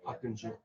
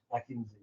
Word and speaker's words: Akıncı: Selling weapons, developing new future platforms like maybe heard such platforms like Akinci, Kinzilema. Akıncı. Yes. Turkish. It's not my native. I call it how we call it. That is the natural pronunciation. Akıncı.